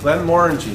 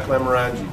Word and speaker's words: Glenmorangie: Glenmorangie, not Glenmorangie, which is how I've referred to it for about the last 30 years that I've been in business here at Kress.